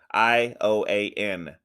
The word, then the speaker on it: Ioan: Look how his name is spelled. That's how you that it Eoin. Ioan.